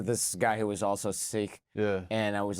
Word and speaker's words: Sikh: idea yeah so I I pronounce it sick but there there's a lot of history that U that I'm learning now were like British in the 1700s were calling them siks oh okay so I'm